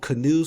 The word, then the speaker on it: Canoo: out there uh the the name is called canoe so it's CA n o o another felet uh two syllable um company and their